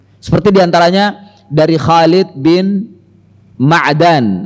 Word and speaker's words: Ma'dan: diantaranya dari Khalid Bin ma'dan ada yang bacanya Medan bahwasannya Abu Ubaidah ini